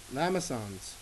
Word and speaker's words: limaçon: Cosine, x-axis symmetry, limaçon, don't pronounce the S in French, that's not always true,